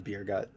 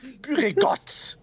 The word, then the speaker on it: Buregut: just started calling him beergut. Yes. I also love that just how over -pronounced the T is. Yeah. That's a triple T. There's three of them, not one. Buregut. It's Buregut. So, I guess...